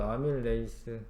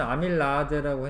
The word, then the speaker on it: 아밀레이스: 뭐가 있어 외워야 돼요 아밀레이스 옛날에는 아밀라아제라고 했는데 원래 이제 영어 발음식으로 하면 아밀레이스가 맞아요 녹말이 여땅으로 분해가 된다